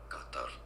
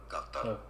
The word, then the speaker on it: Qatar: Well, officially in Arabic it is to be said Qatar. Qatar. Easy, right? In okay. English it is... That's all I wanted to know. Go away. So Qatar.